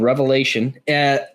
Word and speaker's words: Revelation: The book is called Revelation. Oh yeah. Never mind. You said it right. Yeah. So you don't say Mark's or Matthew's or John's. It is Revelation. It is one revelation.